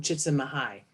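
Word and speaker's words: Csikszentmihalyi: little C comes from chits in the high which is how you pronounce that word word who's uh uh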